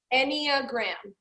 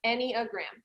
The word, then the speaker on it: enneagram: you say it again anya graham and the anchorage like think of like any and then uh graham like any a gram any agreement any agreement